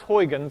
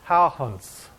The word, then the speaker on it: Huygens: were made by this guy pretty boy christian Howland's okay it's not pronounced Huygens is pronounced how hunts is the proper way to say it okay